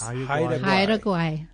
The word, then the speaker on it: Haida Gwaii: And now called, how do you pronounce it? Haida Gwaii Safaris. Haida Gwaii.